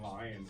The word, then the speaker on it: Lion: Yeah, I have a son named Lion, so I always tell him lion, like the animal.